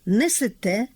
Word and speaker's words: несете: Отже, літературний наголос на останньому складі. Несете, берете, живете, даєте.